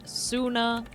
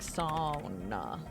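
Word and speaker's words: Soona: I see Suna because I am coming from an English perspective, American English perspective. But it is apparently not Suna. It's something like Sauna.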